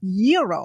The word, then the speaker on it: gyro: Gyros I order the gyro Supreme suddenly the lady behind me chimes in it's pronounced Euro then the behind her says it's a gyro I turn my back